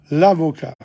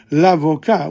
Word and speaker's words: avocat: But notice what happens in l'avocat. We don't pronounce the T.